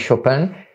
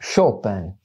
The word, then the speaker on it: Chopin: Ci potremmo chiedere, esiste nella musica di Chopin, fra l'altro per la pronuncia una curiosità, i polacchi lo pronunciano Chopin, i francesi Chopin, noi italiani cerchiamo una via di mezzo, quindi perdonerete la mia pronuncia un po' nostrana, un po' maccheronica.